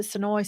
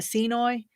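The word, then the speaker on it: Senoia: I called it Sonoy, some called it Senoy. Just depends. Depends on, you can tell how long somebody's lived there as to how they pronounce it.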